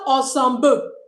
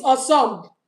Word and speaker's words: ensemble: Ensemble, not ensemble. No, it's ensemble. BLE, but the L is not pronounced, okay?